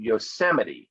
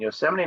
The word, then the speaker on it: Yosemite: one is is called yosemite it's not it's pronounced slightly different than the way it's uh spelled here and yosemite national park is in